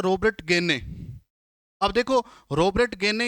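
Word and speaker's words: Gagné: पढ़ा जाता है रॉबर्ट गेने। अब देखो रॉबर्ट गेने या इसकी स्पेलिंग जब देखते हैं तो GAGNE, गेगनी बोला जाता है, तो गेने बोल दीजिए या गेगनी।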